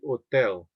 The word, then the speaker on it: hotel: The H is silent, so it would be hotel.